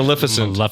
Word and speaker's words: Maleficent: Maleficent.